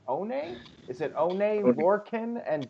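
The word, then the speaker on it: Oney: Roderick Strong versus, I'm not sure how to pronounce his name, One? Is it One, Lorcan, and Danny Burch? Only Lorcan.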